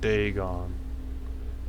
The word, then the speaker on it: Dagon: Okay, I can actually pronounce it right. Dagon.